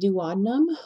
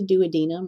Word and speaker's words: duodenum: the first region is the duodenum or the duodenum either pronunciation it's fine so the duodenum is